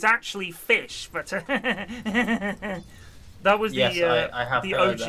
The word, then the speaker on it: ghoti: sh sound, as in station, so it's actually fish, but that was the OG internet clever bullshit wank.